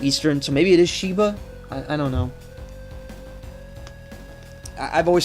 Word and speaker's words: Sheba: Sheba let me check cuz i've been saying shaiva for like four days now oh ok ok Oh is Sheba her japanese name is exactly the same it's pronounced Sheba all right so it's Sheba I was wrong